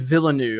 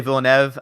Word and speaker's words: Villeneuve: And I always call him Denis Villeneuve. I don't know if that's the proper way to announce it. I think it is Villeneuve. I always say Villeneuve, but I think Villeneuve is actually the correct way to pronounce it.